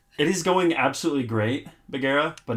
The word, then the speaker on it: Bagheera: Before Because, like, I have an Gira? island. Before Gira? Thank you for joining us. Sorry, I horribly butchered your Bagheera. Where? Bagheera. Oh, Bagheera. Oh, it's like an A.